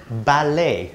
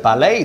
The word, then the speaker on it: ballet: are very micro uh-uh it is ballet the T is silent so say that again with me very good ballet dancer and yeah who